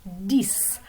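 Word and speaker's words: dix: way so this number even though it ends in the letter x it's pronounced with an s sound dis dis okay so rather than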